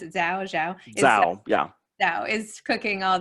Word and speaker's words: Zhao: Zhao is, how do I pronounce it? Zhao, yeah.